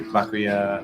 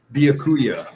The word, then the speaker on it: Byakuya: And how do you say the name properly? Byakuya? Nope. No. Byakuya.